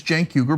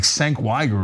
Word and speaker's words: Cenk Uygur: country, my name is Cenk Uygur, but it's the C spelled with, I'm sorry, the Cenk is spelled with a C, right? So it looks like Senk Yegur or something like that and people would say